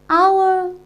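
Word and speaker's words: hour: here Oh before yours because here else eat silent and we pronounced it as our okay and how so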